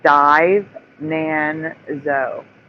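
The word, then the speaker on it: Divenanzo: It's It's even spelled Dvenanzo. No, it's dive. Nanzo.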